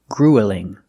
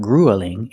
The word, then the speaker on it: grueling: We don't pronounce this word grueling. It's not grueling, it's grueling. Grueling. The first vowel is the long oo, like food and boot.